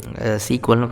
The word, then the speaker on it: SQL: SQL இன்னுமே வந்து ஒரு சீக்வல்னு ப்ரொனவுன்ஸ் பண்ணுவாங்க.